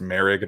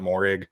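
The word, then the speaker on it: Moehrig: at 20 i have trayvon merrick the safety from tcu i have learned that it's pronounced merrick not morig so apologies um at 19 i have creed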